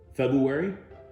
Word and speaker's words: February: You now know how to pronounce February. It's Rue, not you.